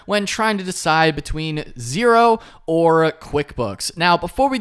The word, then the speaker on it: Xero: So Xero, pronounced Xero, is spelled Xero.